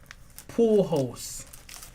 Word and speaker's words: Pujols: Correct pronunciation. Pujols.